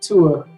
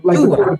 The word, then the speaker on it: Thua: and the H is silent, so it's just Thua, like Thua.